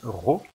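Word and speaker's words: rho: l'amazone unique est représenté par une lettre grecque comprend qu'ils se prononcent ro et on obtient l'amazoo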